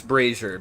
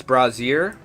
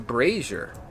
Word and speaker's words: brazier: Also, that guy just taught me how to pronounce braier because I literally thought it was brazier. I don't know how else you would pronounce it whenever it's spelled like that, but apparently it's pronounced braier, which is cool.